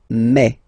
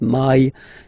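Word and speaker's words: mais: In French, remember when you combine this a and then I vowels, you get the sound e. So really open e, okay, and then you pronounce it me. Okay, so don't pronounce I, don't try to pronounce it. No, it's me. So it's not my, it's me.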